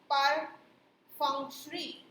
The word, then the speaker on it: perfunctory: Okay, इसका जो correct pronunciation है दैट इज perfunctory.